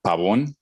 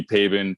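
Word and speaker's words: Pabón: me so i mean if you wanted with the spanish accent would be pabon but i mean people call me pabin people call me pablon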